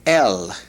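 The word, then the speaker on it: אל: The preposition to is el.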